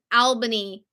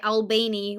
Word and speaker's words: Albany: it's all related to Upstate New York and Albany New York and I'm glad that I said that correctly because every time I want to say albainy when that's not how it's pronounced and I